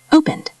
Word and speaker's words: opened: If the word ends in a voiced sound, we pronounce ed as a D sound. Played. Play. D. Repeat. Good. Lived. Live. D. Repeat. Nice. Opened.